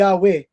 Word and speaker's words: Yahweh: Yung word na Lord sa Hebrew description ay makikita natin it is a tetragrammaton na YHWH na ang pagkabigkas ay Yahweh.